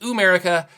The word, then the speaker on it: Ooo'merica: and that is ooh america yes it is pronounced america uh i i believe 100 that is what